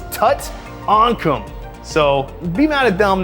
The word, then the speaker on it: Tutankham: So it's Tutankhamun. It's not Tutankhamun, which is the actual pharaoh from Egypt. I didn't do this, Stern did this. It's Tutankhamun.